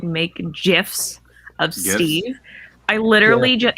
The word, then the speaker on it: GIF: why Meg calls gifs gifs it's a gif you don't need a knife to GIF anymore it's a gift it's a a hard G listen I work in